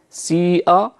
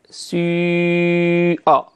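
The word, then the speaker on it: سِيئَتْ: الإمام، هذه الكلمة سيئت وكلمة سيئة تقرأ بالإشمام يعني بخلط حركة الكسرة مع الضمة، سيئة بهذا الشكل سيئة يعني تشبه الحرف الإي في اللغة الفرنسية في كيفية نطقها، مم يكون خليط بين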